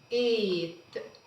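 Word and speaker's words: eight: الجي اتش مع بعض سايلنت ملهمش ساوند مش هنطقهم. عندي كلمة ايت. ايت. لو خدت بالي انا نطقت الاي ايه ايه ها والاي ايه ايت. رحت على التي مباشرة ما نطقتش الجي اتش.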